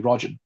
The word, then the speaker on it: Rajan: Rajan. So it's spelled R E J A N.